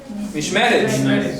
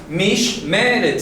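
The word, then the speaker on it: מִשְׁמֶרֶת: Mishmeret. No es difícil de pronunciar. No está en chino, no está en cantonés. Mishmeret, son 3 sílabas. Mishmeret, que es el cerco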